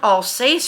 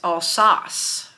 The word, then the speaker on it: Alsace: Now both of them were born and I was pronouncing it incorrectly. The woman at the historical center corrected me. It's not Alsace France. It's als France.